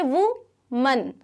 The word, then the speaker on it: woman: तो ये जो है, ये अगर आपका है woman, अगर सिंगल वुमन की बात करें तो ये वुमन, वुमैन नहीं होगा. ठीक है, वुमैन नहीं होता, वुमन.